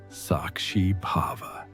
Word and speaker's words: sakshi bhava: what the ancient texts call sakshi bhava pronounced sakshi pava which means the witness consciousness.